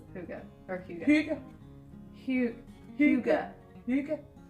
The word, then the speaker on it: Hygge: Hygge, or first of all, how do you pronounce Hygge or Hygge?